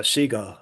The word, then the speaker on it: Seagal: It's actually pronounced seagull by the way.